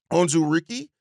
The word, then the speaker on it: Onwuzurike: And then the next guy up is Levi Onwuzurike. I believe is how you pronounce his last name.